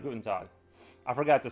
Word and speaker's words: guten: good day in German uh not guta uh guten that's right guten I forgot to say